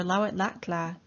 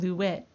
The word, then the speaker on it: Lawetla'la: Mount St. Helens, or Lawetla'la, or the anglicized pronunciation Lawet, is a striking volcano